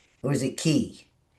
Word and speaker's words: qi: So is that's pronounced chi or is it key?